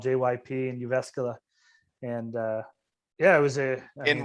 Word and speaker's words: Jyväskylä: it's called JYP and Jyväskylä, and yeah, it was In what town? Jyväskylä. Jyväskylä? Starts with a J though. Right, but the J is silent, like jogging.